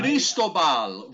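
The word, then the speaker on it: Cristóbal: I Cristobal, roll your R, Joe. You're Italian. You should be able to roll your R's.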